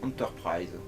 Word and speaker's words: L'Entreprise: Qui se prononce Enterprise.